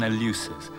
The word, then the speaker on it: Eleusis: In November 1801, Clarke was in the little village of Eleusis, or in the old pronunciation Eleusis, near Athens.